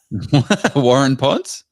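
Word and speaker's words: Waurn Ponds: Warun Ponds?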